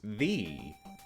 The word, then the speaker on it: ye: Fun fact, the old-time ye, which I'm pronouncing that way for convenience, isn't pronounced how it looks. It's pronounced thee.